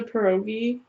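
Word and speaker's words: pieróg: The United States has also made a National Pierogi Day, which is October 8th.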